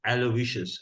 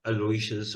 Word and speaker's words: Aloysius: John's, and there I was taught the proper pronunciation, which is Aloysius, and not Aloysius or Aloysius.